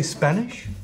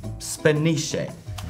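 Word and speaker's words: Spanische: uh windt you say Spanish Spanish you have to pronounce the E I thought you said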